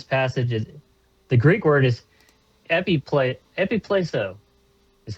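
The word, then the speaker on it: ἐπιπλήσσω: The Greek word is epipleso, is how you say it.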